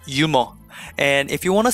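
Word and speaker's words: 유머: We don't pronounce that H. So instead of saying humor, we say yumo.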